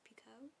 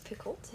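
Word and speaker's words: Picoult: time I'm so sorry her last name is actually pronounced Pico not the cult carry on Jody pickolt and Jennifer Finney Bolin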